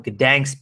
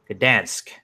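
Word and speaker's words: Gdańsk: Last night was UFC Fight Night 118 from Gdansk, Poland. Gdansk.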